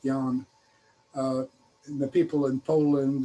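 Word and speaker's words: Jan: a version of that the dutch spell my first name with one a j-a-n and they still pronounced it yan in the people in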